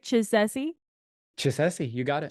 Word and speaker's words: Chisesi: say it right did I say right ch Chessie you got it Chessie score for me okay rock cool so tell